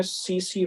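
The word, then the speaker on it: tsetse: insect का नाम है सीसी फ्लाई स्पेलिंग और से देख लीजिए सी सी फ्ला इस का प्रोनंसिएशन है सि हम और ए पढ़ते हैं दोनों टी साइलेंट सी सी फ्लाई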